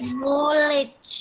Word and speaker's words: knowledge: Nggak boleh, K-nya hilang ya Mas, jadi tinggal knowledge.